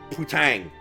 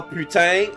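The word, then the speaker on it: putain: But that game gets on my nerve every time they say Pang or Patang cuz that's not how Putang is pronounced.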